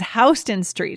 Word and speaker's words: Houston: to say yes okay it is not like the state of texas guys like the city in texas it is houston street so so important because